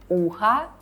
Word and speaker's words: ухо: By the way, notice when we say ухо, we hear a at the end because o is not stressed. But you have to pay attention to not what we hear, but to how we spell it. As we spell o at the end, ухо will be neuter, not feminine, even though we hear a, ухо.